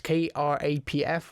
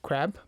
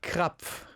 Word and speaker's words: Krapf: spell it out it's K R A P F, right? When they read it in English it sounds like crab. Yeah, right. With the P there. crab.